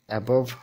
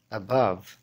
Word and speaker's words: above: above, above হবে না, হবে above। adjacent, adjacent হবে না, হবে adjacent।